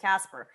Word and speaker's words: CSPR: be the first time that how do you pronounce it? Is it the CSPR? CSPR, Casper token.